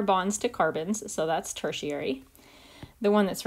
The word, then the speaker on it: tertiary: the degree symbol but we don't call it third degree we still pronounce it tertiary let's take a look